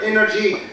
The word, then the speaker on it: energy: But why do we say solar energy and we never say sunny energy? Because solar collocates, goes with energy, not energy. Energy. Stress on the first syllable.